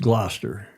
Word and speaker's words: Gloucester: Julia, of course, it's pronounced Gloucester.